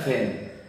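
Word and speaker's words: feign: क्योंकि उच्चारण में यदि थोड़ा सा भी अंतर कर दें, आप देखिए एफ ई आई जी एन, इसका उच्चारण होता है फैन और इसका मतलब होता है बहाना करना।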